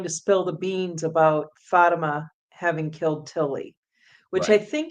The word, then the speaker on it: Fatima: Fatima. So at any rate, what's that? Fatima. Fatima.